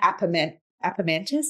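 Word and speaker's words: Apemantus: I'm definitely Appomantis.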